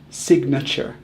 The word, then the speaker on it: signature: We say nature, so we should say signature, right? Instead of the long A sound in nature, we actually use the schwa, which is kind of like a low U sound. Signature, not signature.